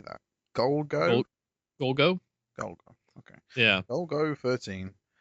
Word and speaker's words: Golgo: Golgo?